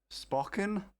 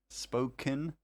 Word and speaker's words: Spokane: Spocken? Spoke can. I don't know, I've never been to a Black Bear Diner. Fair enough. Spocken, Washington. Spokane.